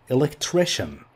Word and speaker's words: electrician: Let's add electrician. This sounds like shen. Shen. Electrician.